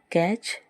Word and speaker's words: catch: दूसरा एग्ज़ाम्पल है CATCH, कैच, जिसमें जो टी है वो साइलेंट रहता है।